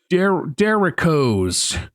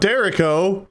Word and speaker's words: derecho: how to pronounce this, derechoes. Not Derico. No. Derecho.